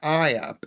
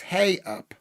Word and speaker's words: ey up: It's not I up. It's hey up.